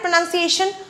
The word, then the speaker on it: pronunciation: It is pronunciation. Not pronunciation. The noun form is called pronunciation. The verb form is called pronounce.